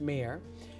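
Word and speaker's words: MARE: a r e that that is pronounced mayor stands for Michigan Adoption resource exchange and um I went to a mayor booth having no idea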